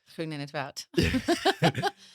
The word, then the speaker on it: Groen-in't-Woud: Might let you pronounce it. Groen-in't-Woud.